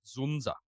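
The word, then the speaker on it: Dzundza: You reckon that's how we Yeah, pronounce Zunza. it? Yeah, Yeah, I heard them Zunza. say it. Yeah. Not Z- Dzunda? with the silent Zunza. Z. Yes. Yeah, Zunza.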